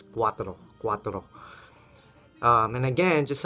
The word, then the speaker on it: cuatro: to say Quadro so I used to pronounce quatro like a gringo quatro so Quatro Quatro means